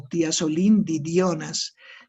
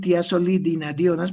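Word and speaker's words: tiazolidinedionas: Tiene que acordarse este nombre largo, tiazolidinadionas o tiazolindidionas. Yo prefiero decir tiazolidinadionas porque es más fácil pronunciar.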